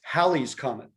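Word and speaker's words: Halley's Comet: with this one because all americans mispronounce it it's halley's comment what's really funny is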